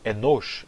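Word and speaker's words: אנוש: A palavra enosh em hebraico será pronunciada enash em aramaico.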